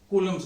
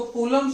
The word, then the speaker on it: Coulomb: इसलिए इसको कई जगह कूलम भी बोला जाता है। इट्स नॉट कूलम, French pronunciation में इसे चार्ल्स कूलम, नॉट बी का साउंड नहीं आता है।